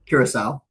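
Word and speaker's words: Curaçao: Um and again um how do you pronounce is it Cura? Curacal.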